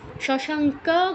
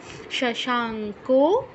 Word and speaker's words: শশাঙ্ক: এটা অন্যদেরও অসুবিধা হবে আচ্ছা ভাসায়তে সূর্য না শশাঙ্ক শশাঙ্ক কিন্তু নয় শশাঙ্ক নবকহ না পাবকাহ নদভাসতে সূর্য না শশাঙ্ক নবক